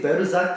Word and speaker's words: Balzac: Because they would say Berzac and I'm like Balzac.